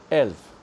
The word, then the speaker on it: elf: NUMA else number 11 in Germany's read as elf and written as e.l.f else 12 number 12